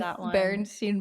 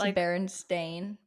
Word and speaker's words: Berenstain: that is not understand it's Berenstain but what if everybody was just pronouncing it wrong and now they're like I mean that could be the case but like you imagine it e i and it's AI yeah it is yes it's